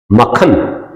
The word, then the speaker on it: मक्खन: मकन ना पढ रहे लाल मखन चाहिए मखन मक्खन मतलब कायदे से जैसा इसका उच्चारण है ना तो कायदे से मक्खन शब्द